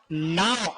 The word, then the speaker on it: know: ये देखो, KNOW, नाउ, आई नाउ very well, नाउ, हम बोल नाउ रहे, बीच में कौन आ रहा है?